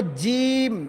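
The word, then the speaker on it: ج: এটা হল জিম। এটা কিন্তু জিম। এটা জিম। জিমটা কিন্তু পাতলা হবে এবং শক্ত হবে। আর এটা হবে যা। শক্ত করে একটু মোটা সিস্টেম হবে।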